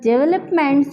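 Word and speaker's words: develop: अब हमने देखा है लोग कहते हैं डेवलप नहीं करना है यहां ने सेकंड सिलेबस पर जो है स्ट्रेस करना है ठीक से कैसे हम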